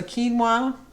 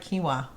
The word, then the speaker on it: quinoa: for lunch is a quinoa see i said it right quinoa q-u-i-n-o-a i think it's kiwa i always mess up that a kiwa bowl